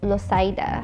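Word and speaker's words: Loisaida: Proof of this is that some people still refer to Alphabet City as Losaida, a Latino pronunciation of Lower East Side.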